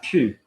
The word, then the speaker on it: pue: Ah, ça pue. That stinks in French. Am I top you or monkey ou? I am top you.